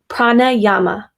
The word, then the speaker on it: pranayama: Pranayama.